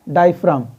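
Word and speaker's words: diaphragm: क्या कहा जाता है, डायफ्राम। वहाँ पे जी जो है साइलेंट होता है।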